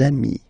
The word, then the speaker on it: amis: you will get des amis, okay? Des amis. So ami, remember, doesn't change. Even if you get to write the S, then you don't pronounce it, okay?